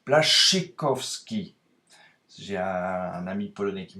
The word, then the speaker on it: Błaszczykowski: En polonais, le SZCZ se prononce Błaszczykowski.